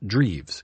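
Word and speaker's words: Drews: grins at my request miss abell spelled the cousin's name which was d-r-e-w-s pronounced dreaves in german she informed me her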